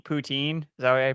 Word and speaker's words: poutine: they got good P poutine is that I pronounce it whatever sin you got the first part right at least uh but yeah um yeah if you say Puttin they'll be really impressed with you pin okay you